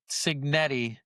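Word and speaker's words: Cignetti: Does Kurt Signetti, right?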